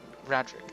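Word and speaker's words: Raedric: Legacy have you ever sired a hollowborn child Radric that's how you say his name uh H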